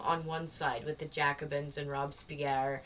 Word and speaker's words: Jacobin: Apparently in 1793, let me alliterate, not 1993, the Jacobean faction... Jacobin, I'm sorry. I always say that.